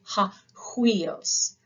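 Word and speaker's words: υἱός: then you have hos make sure you're getting that rough breathing Mark in when you are trans when you're pronouncing this word hos this means son or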